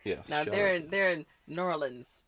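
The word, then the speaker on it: New Orleans: they're in they're in norleans that's how you say it norleans Nola yeah they're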